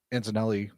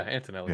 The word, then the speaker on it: Antonelli: minute uh Alonzo Lance's teammate pushed out uh Antelli or Yeah. Did I say his name right? Yeah, Antonelli.